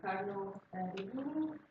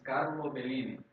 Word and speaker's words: Bellini: My name is Carlo Bellini, not Carlo Bellini as I said.